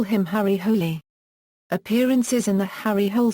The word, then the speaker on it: Hole: The word is pronounced as 2 syllables, with stress on the first, as is implied in The Bat, where the Australian police call him Harry Hole.